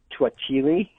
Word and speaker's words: To'hajiilee: You mean it was at Twahili, or if you wanted to pronounce it more in Dene, it was at Twachili?